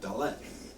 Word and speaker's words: dalet: that's what the word door means in Hebrew dalet that's how you say it you'll notice in